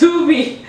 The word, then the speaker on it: Tubi: It's pronounced Tubi.